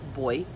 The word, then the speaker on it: buoy: those are new zealand boy um in new zealand we pronounced when i first kind of started bowie what the hell's a buoy and then i realized oh you mean the boy yes got it okay